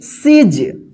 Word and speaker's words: siege: इसी तरह से यहां पे देखिए SIEGE, देखिए यहां पे IE एक साथ है तो इसको क्या पढ़ेंगे? सीज।